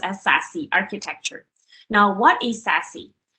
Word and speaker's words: SASE: need for a secure access service edge or pronounced as sassy architecture now what is sassy secure access service